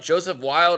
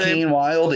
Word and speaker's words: Joaquin Wilde: One half of that team, Joseph Wilde, or however you pronounce his name. Joaquin Wilde, yeah.